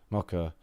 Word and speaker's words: Mokyr: I shouldn't have to pronounce other countries' names. Mokyr. No. Mokyr. Mokyr. Mokyr. It's Mokyr.